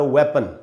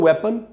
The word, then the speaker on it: weapon: ये जो वर्ड है दोस्तों वेपन, इसकी स्पेलिंग है WEAPON, वेपन। वेपन पढ़ेंगे इसको भी कई बार लोग वीपन वगैरह पढ़ लेते हैं, वो ठीक नहीं है। इसको हम पढ़ेंगे वेपन, और वेपन का मीनिंग है हथियार।